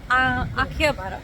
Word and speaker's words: Akihabara: Guys, अब हम लोग आए हैं आखिबारा, और ये Akihabara, the correct pronunciation, as per Arna.